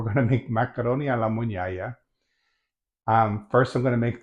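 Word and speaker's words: mugnaia: Um, what we're making today is macaroni alla mugnaya. Check the spelling when I post the video and get that pronunciation right. Mugnaya, the GN in Italian is la N, sound like in canyon.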